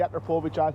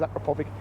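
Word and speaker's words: Akrapovič: So people always pronounce different. I say Akrapovic, he says Akrapovic, but it's got one of the exhausts in anyway, and it sounds absolutely beautiful.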